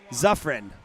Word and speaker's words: Zaffron: All right, Carrie, I'm just seeing your comment right now on the pronunciation. Zaffron. All right, I was saying Fran.